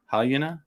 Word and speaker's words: Halyna: How do you say her name? It's Halyna.